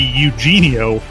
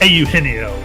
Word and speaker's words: Eugenio: all of botball especially it should it should really be Eugenio but it's aino Suarez nicely done you